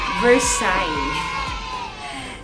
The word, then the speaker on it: Versailles: is there she is I think this Versailles Versailles so that's the pronunciation in French so you will use